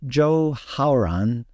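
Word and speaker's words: 周浩然: Even if you're corrected multiple times, it's pronounced Zhou Haoran, and I'm probably not even saying it 100% correct.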